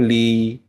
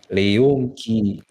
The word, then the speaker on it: Le Yongki: Sebenarnya dikiranya tuh Lee. Padahal enggak, bukan harusnya bacanya Le. Le Yongki. The Yongki harusnya.